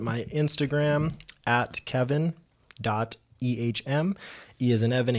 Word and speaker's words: Ehm: Instagram at Kevin dot ehm he is an Evan H as in Harold M as in Mary pronounced just like the letter M reach out to me